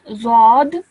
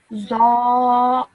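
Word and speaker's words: ظاء: Okay, it's not zod, it's za. Should I show you in English what it's like? Just one second. Let me go back to this and you can see how you should say it. Okay? So it's this one over here. Yeah? So can you see? It's just simply za. This is Can you say it, please?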